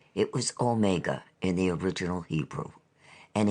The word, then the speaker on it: omega: in reading the Revelation he ought to say omega as a Dactyl with the accent on the o or omega as two words if you understand me